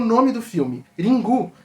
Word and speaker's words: Ringu: Ringu, que é a pronúncia japonesa da palavra ring do inglês, pode ter vários significados, como por exemplo um toque de telefone, né?